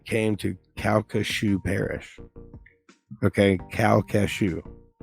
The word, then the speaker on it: Calcasieu: to Calcasieu Parish okay cow cashew see it sounds like it's spelled really different but it's c-a-l-c-a-s-i-e-u okay yes what is